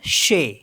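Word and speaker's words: chez: मीस होता है नोस सी एच ई जड तो इसको पढ़ते हम शे श मीस होता है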